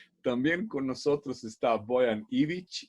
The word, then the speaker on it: Ivić: bien mi apellido, Ivić, aunque yo escribo con C, gente dice Ivić, porque letra Ch es muy difícil de pronunciar y es un tipo de letra que no se suele pronunciar cuando se nos menciona fuera de nuestro idioma.